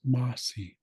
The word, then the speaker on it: masi: Mai Mai means thanks it's essentially based on French Mercy but again they don't have the letter r in the northern dialect so they remove that and becomes masi and that's thanks and nich